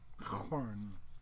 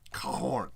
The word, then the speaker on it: Khorne: Volcaric Acolyte, Gift of Change, Frightful Touch, Scar, Blood Wrath, Blood Throne of Corn, but spelled with a K, so it's cool. Corn. Khorne, Cloak of Mists and Shadows.